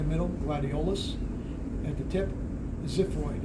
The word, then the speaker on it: xiphoid: At the tip, xiphoid. It's spelled with an X, but it's pronounced like a Z.